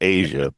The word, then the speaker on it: Aja: it's pronounced it's it's not AA it's it's pronounced Asia but it's everybody says AIA or whatever AJ